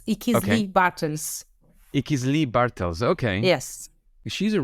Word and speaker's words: Ichizli-Bartels: I am going to certainly fail on this pronunciation. Ichizli-Bartels. Does that make any sense? Yes, just a little amendment. It's Ichizli-Bartels.